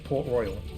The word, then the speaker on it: Port Royal: We do have to go to Port Royal. I've heard some people call it Port Royale.